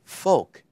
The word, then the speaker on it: Volk: in German folk is folk in German which the V is actually pronounced as an F the people Mercedes was